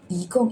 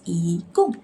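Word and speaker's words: 一共: 一共 is total. It is before fourth tone syllables, so you need to shift to second tone, which is 一共.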